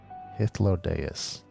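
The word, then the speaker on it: Hythlodaeus: the guy's EMT Suk other dude is hodus that's how you say his name hodus sulking beside me is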